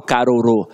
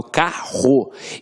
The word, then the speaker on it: carro: eu tenho um digo eu não falo caro eu falo carro então esses dois erres aqui tem um som de r forte então apesar de ter